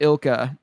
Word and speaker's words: ILCA: development Studio it's it's I don't know if it's ILCA or ilka um they they pronounced it ilka before but it's it's spelled LCA but but either way